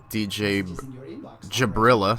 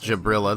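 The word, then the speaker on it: Djabrill: mate I do now DJ Jabrill sorry Jabrill says my name is pronounced Jabrill the D is silent and also have some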